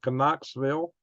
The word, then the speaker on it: Knoxville: Asheville North Carolina 34 Knoxville 41 canesville 43 I mean how come you got a k over here and you pronounce with the N you got an N over here you pronounce with n i don't know kville